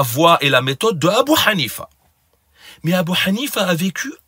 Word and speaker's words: Abu Hanifa: Sachez que ces gens-là altèrent exprès et déforment exprès la prononciation du nom de Abu Hanifa en disant Abu Jifa, qui signifie cadavre, tellement il aimait hors d'eux.